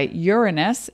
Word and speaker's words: Uranus: now in the sign of Aquarius guided by Uranus and that is the correct pronunciation represents technology higher thinking evolution breaking the